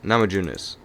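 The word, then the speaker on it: Namajunas: on this card might be namis namama junis Nam junis yeah there we go that's how you pronounce that that probably might be the best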